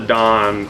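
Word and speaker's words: Daan: video they he's European his name is Don d a a n we we spell it d o n but but Don I will say if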